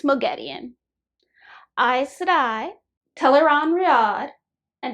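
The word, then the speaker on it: Moghedien: I know there's some controversy about this one because they pronounce it two ways in the audiobook, but it's Mogedian.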